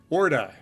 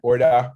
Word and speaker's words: Orda: So Orda, pronounced correctly? Yeah, I think so. It's got a little bit of a twang like Orda, but Orda, a little accent at the end.